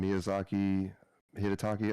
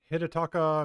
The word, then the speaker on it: Hidetaka: I mean, it's a good game, but it's not one that the what is his name, Hidetaki. I think I'm saying his name wrong. It's Hidetaka Miyazaki. Yeah, I said it totally wrong, but I was trying.